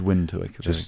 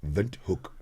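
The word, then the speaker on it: Windhoek: else is scattered it's wind hook yeah vook everybody's in how do you pronounce it V hook oh okay it sounds like Africans in a way it is so the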